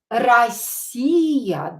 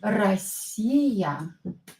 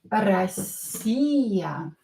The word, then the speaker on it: Россия: Again, O, not stressed, pronounce it as A.